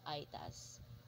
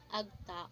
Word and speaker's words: Aeta: value the culture of Aitas. The Aita, pronounced as Aita, Agta, or Aita, are an indigenous people who live in scattered, isolated, mountainous part of Luzon, Philippines.